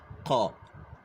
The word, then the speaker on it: ḳ: حرف الكيه تحتيها نقطه كي تحتها نقطه بتتنطق مش كيه عشان كيه بس لوحديها دي هناخدها بعد كده اللي هي بتعبر عن الف حرف الكاف لكن دلوقتي الكيه تحتها نقطه قا اللي هي شبيهه بنطق حرف القاف طيب في حروف فيلو